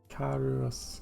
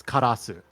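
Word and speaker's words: Karous: to pronounce it uh Kos Kos okay yeah it's karasu they I don't know why they decided that yes this is a sensible way to romanize the Japanese word for Crow yeah well they whiffed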